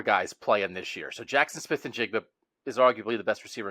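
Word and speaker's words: Jaxon Smith-Njigba: How do you pronounce that? Jackson Smith and Jigba. Yep. Jackson Smith and Jigba.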